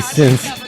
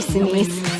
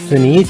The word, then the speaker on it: Sinise: Gary Since. No, it's not Gary Since. Or Cincy or Sensei, however you say. How do you say it? Gary Sinise. Sinise? Mm-hmm. Sinise. Like Denise, but with an S.